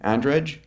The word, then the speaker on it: Andrej: So how does he pronounce his name? Andrej Karpathy.